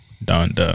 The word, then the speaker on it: Donda: wanda then i wouldn't it wouldn't run wanda donda i'm sorry go ahead until now you said